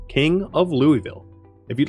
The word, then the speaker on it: Louisville: telling me it's pronounced Louisville um fine but it's named after King Louis XVI so I'm going to call it Louisville after the person it's named after thank you very much